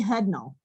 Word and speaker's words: Hudnall: We've got Jeff and I'm sorry, the other person I have Hudnall. Did I pronounce that right? Yes, ma'am, you did.